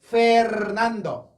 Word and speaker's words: Fernando: 그래서 아르헨티나, 페르난도, 페르난도. 선생님 심하게 부르세요. 그냥 페르난도 해도 상관없는데 원래 굴려주는 게 맞다라는 거예요. 페르난도.